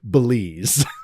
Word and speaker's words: Belize: It rhymes with the magic word. And what is the magic word, Veal? Lazy Susan. Please. Please. Oh, it is right. Belize.